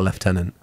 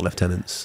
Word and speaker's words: lieutenant: the pronunciation of stuff, they said it's not lieutenant, it's lieutenant. Depends where you are in the world. But it depends where you are in the world. And I was like, because it is a French word and they say lieutenant. And the Americans say lieutenant.